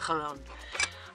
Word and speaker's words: Jalón: 7:30 and we are in Jalón, which is spelt like that in the Spanish, but it's pronounced J-A-L-O-N with a silent A, Jalón.